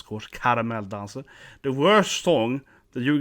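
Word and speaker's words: Caramelldansen: Like Caramel Dancer, has how it's pronounced, of course. Caramel Dancer.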